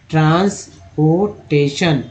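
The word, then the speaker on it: transportation: हैं, तो mechanism of ट्रांसपोर्टेशन, टी आई ओ एन, याद रखिए टी आई एन को बोलते हैं शन, ट्रांसपोर्टेशन एंड स्टोरेज, ए जी ई को एज बोलते हैं।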